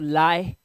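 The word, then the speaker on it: lie: से एल आई ई एल आई ई में ई silent कर दो एल आई को पढ़ो तो आई को आई पढ़ना है तो लाय तो लाय क्लियर हो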